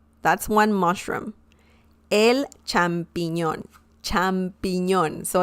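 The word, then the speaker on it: champiñón: attention to the pronunciation champignon it sounds quite french as well it sounds like french but it's not it's spanish both mean the same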